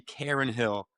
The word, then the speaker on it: Carnahill: looks like you claimed Carnahill in September. Again, another bad name, good horse, and I had no idea how to pronounce it. It's actually Karen Hill.